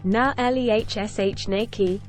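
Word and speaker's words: Naleśniki: Nalesniki, pronounced na-lehshnaki, are thin Polish pancakes that are somewhat similar to crepes.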